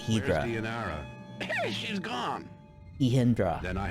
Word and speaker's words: Hydra: I've heard have been Hydra but maybe it's closer to the Greek if you pronounce it hedra she's gone eindra then